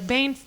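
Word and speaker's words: Bain: Bane rhymes with Cain, bitch.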